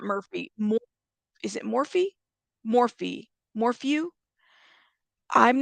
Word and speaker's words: Morphew: Is it Morphew? Thank you. Thank you guys, because I am not trying to, brutally murder someone's last name. So thank you. Hey, nonsense. Okay, Morphew. Morphew. That's how you say it.